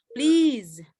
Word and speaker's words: please: Ini ingat ya, please ini berubah S-nya jadi Z. Please.